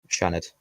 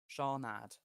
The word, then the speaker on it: Seanad: Shanad. Okay, the Imagine, Shanad. like, Thank you. you know the name Sean? Yeah, Seanad.